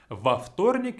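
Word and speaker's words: во вторник: unnatural to pronounce so we have to kind of add an extra vowel there so it's not going to be too much of a tongue twister a waftornik is much easier to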